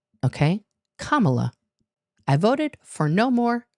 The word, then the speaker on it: Kamala: okay uh yes and I did vote for Kamala and that's how you say her name not Kamala okay Kamala I voted for no more dramaa with Kamala